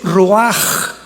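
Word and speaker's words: רוּחַ: La palabra para espíritu en el hebreo es la palabra que es roaj, que se escribe ru con ch, pero repito, ese pronuncio pronuncia como J.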